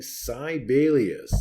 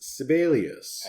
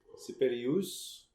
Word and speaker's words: Sibelius: And why do you keep saying Celius? It's Sibelius. Actually, Sibelius was from Finland. And so the correct pronunciation would be something like separus.